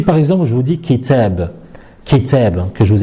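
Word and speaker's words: كتاب: les autres lettres et bien il faut la prononcer donc si par exemple je vous dis kitab qui t'aime que je vous écris ici et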